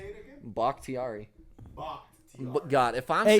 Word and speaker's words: Bakhtiari: I don't know how to pronounce his name. Bakhtiari. Bakhtiari. One of their tackles. Our left tackle, dog. How do you say it again? Bakhtiari.